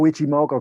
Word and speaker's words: Ichimoku: I use Ichimoku. Ichimoku? Oh, Ichimoku clouds, absolutely brilliant. Is that how to pronounce it? Yeah.